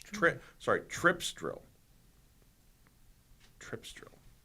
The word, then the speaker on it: Tripsdrill: Trip Sorry, Tripsdrill. Tripsdrill. How do they spell it? T R I P S D R I L. Exactly how it sounds. Tripsdrill. Amusement park Tripsdrill.